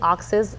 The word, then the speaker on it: Auxais: our conversation with our honorable guest o oxes you know why I say I have to say oxes um it's aux a i s o yeah